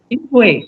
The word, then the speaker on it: inchoate: How do you pronounce this? Incoherent. Inchoate, yeah, inchoate.